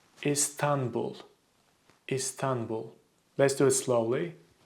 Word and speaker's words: İstanbul: People usually say Istanbul, or Istanbul. Again, they stretch the syllables and they put so much stress in the last syllable. It's just you should pronounce it as Istanbul.